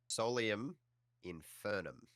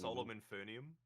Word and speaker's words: Solium Infernum: Sorry, Adam, how do you say the game again? Solium Infernum. Oh, Okay. you nailed it. Look at me go. You should go and watch it because I do mispronounce the title of the game twice in front of 2 of the people who created it. So I'm We saying like fucking- Solemn Infernium? Yes, that's exactly what I did.